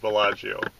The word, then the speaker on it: Bella-Geo: and her geocaching name is Bellagio but we pronounce it Bellagio and this is our introductory video for the